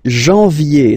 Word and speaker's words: janvier: But anyway, janvier. So that's the way to pronounce it. Janvier, A-N, en, okay? And then yé, yé, yé.